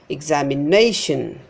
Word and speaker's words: examination: Examination. Before this nay is stressed. Examination, examination. Application, application.